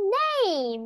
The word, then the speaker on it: name: What- What's your name?